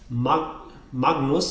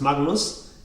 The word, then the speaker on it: Magnus: When it's followed by an N, it's actually pronounced ng. So for example, the word Magnus is not actually pronounced Magnus. Great. It's rather pronounced Magnus. Magnus. not Magnus, Magnus.